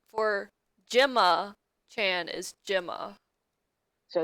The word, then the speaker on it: Gemma: Also, the pronunciation for Gemma Chan is Gemma.